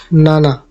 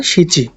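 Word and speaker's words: 七: এই যে এটা গো এর কাঞ্জি, এটা উচ্চারণ গো। গো মানে হচ্ছে 5। এরপর আছে রোকু। রোকু মানে 6। রোকু। এরপর নানা। নানা অথবা শিচি।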